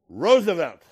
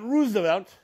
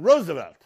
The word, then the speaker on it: Roosevelt: know it irritates me so the last name is Roosevelt not Roosevelt not Roosevelt but Roosevelt when my ancestor KES